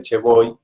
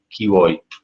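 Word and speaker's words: Che vuoi: Yo me sale decirlo así a lo bruto, a lo coloquial, el che voy, pero la pronunciación correcta, hasta donde tengo entendido, es ¿qué voy?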